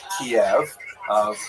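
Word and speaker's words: Kyiv: The Ukrainian pronunciation by the way that's favored today because of course Ukrainian is the dominant language in the country but it used to be called in English Kiev which is closer to the Russian pronunciation because Russia dominated much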